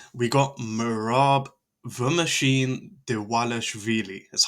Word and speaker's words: Dvalishvili: Ah, we got Merab the Machine Dewalashvili. That's how you pronounce that.